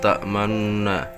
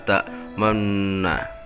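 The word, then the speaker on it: تَأْمَنَّا: Menurut Imam Hafiz, di dalam Al-Quran hanya ada satu, yaitu la ta'manna di dalam Quran surat Yusuf ayat 11 juz 12.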